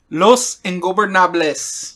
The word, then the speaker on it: Los Ingobernables: Los Ingobernables.